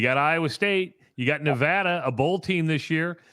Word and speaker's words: Nevada: state at kinnick yeah um uh and we pronounce it nevada in iowa by the way okay um one